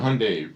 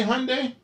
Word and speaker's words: Hyundai: a brand new yeah Hyundai CRI rhymes with sunde didn't I say Hyundai um yeah it was